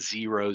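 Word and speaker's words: Xero: things like sage and zero zero spelled with an x x e r o um I would just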